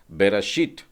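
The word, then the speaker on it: בראשית: और उसी तरह से जब हम बेरेशीत कहते हैं तो वहां पर बेरेशीत में आपका सही उच्चारण हो जाएगा ताव के लिए बेरशीट, यानी हल्का सा ट का उच्चारण आ जाता है।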